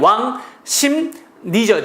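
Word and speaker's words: 왕십리: 자 어때요 잘못됐죠 왜요 발음이 어떻게 돼요 왕심 니죠 니 그렇지 왕심 니가 되기 때문에 왕 심까지 맞았는데 R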